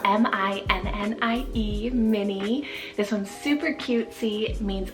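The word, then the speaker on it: Minnie: names there and it means Meadow of pearls mini spell m-i-n-n-i-e mini this one's super cutesy means of the mind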